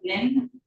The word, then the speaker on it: Nguyen: It certifies that Dr. Teresa Wynn, but that is spelled Nguyen, Assistant Medical Examiner, performed the postmortem examination of the body of Shannon Robertson.